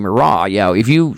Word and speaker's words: Murat: You know, it is, you know, it's kind of like we talked about earlier, the pronunciation of the word Morat to when it's actually Morra.